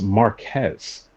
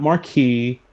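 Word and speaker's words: Marques: his like video podcasts uh his name is pronounced Marquez not Marquee um not Marcus Marquez I think it's spelled with an F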